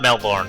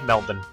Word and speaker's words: Melbourne: an hour oh it's definitely not Melbourne uh a lot of North Americans say Melbourne uh because you know born born identity it's it's spelled the same as that so yeah it's I see where they're getting it from but yeah it's us it's always been Melbourne and so it needs